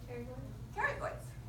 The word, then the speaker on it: pterygoids: And the 2 pairs of the silent P comes off of the plate, the blank plate of the sphenoid bone. Pterygoids.